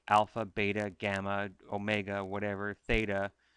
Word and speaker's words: theta: it the Greek letter theta. If you were in Mrs. Jones's class, who's British, she would say theata. But I'm not British, but just so you know, that's how it's spelt.